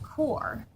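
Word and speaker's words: QoR: in high quality Paints the Q R watercolor pronounced core cool line is made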